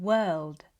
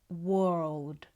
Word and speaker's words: world: These words are not pronounced with an aw sound. It's not ward, walk, or world. It's more of an uh sound. We would say work, word, world. We use the same vowel that's in her, term, and serve.